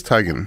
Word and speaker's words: Teigen: Well, she said it's Teigen, Like tiger?